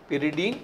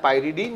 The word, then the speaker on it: Pyridine: तो इस पिरिडीन का जो पैरेंट नेम है, जी, हमेशा आप बोलेंगे पिरिडीन या पाइरिडीन, जो आप प्रोनाउंसिएट करते हैं बोल सकते हैं पिरिडीन।